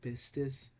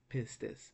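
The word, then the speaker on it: πίστις: Let's try, okay, with these two first words, pistis, eleos. Why do I pronounce it pistis? Because it's pi, iota, sigma, tau, iota, sigma. Okay? So the pronunciation is pistis.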